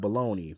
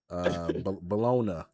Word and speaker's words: Bologna: It's spelled baloney, but Bologna, Italy.